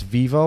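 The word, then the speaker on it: Vevo: pronouncing this this is my European is it vvo or Vivo Vivo Vivo okay so it's Vivo I have a page on Vivo I have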